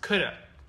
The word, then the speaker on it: could have: And then here we have could have. Yeah. Which is often pronounced coulda. Coulda. Mm-hmm. So could have done, it is coulda done.